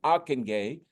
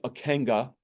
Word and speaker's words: Ockenga: and that's Harold aenay his his name is pronounced Harold aenay um it it might sound like akenga but it's Aken uh he was the one